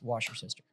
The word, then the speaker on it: Worcestershire: Sir, it's pronounced wash your sister. Okay. Worcestershire.